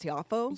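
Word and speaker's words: Tiafoe: We saw, I think his last name is pronounced Tiafo.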